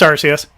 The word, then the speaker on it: Arceus: i pronouncing that right is it arceus or arceus it's rcs okay um awesome something you